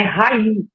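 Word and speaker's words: חַיִל: Virtuosa é uma palavra que significa no hebraico chal, mas a pronúncia é rail.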